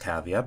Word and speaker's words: Cavia: know this but it was actually developed by cavea and i know it's pronounced cavea because there's a blurb on the website saying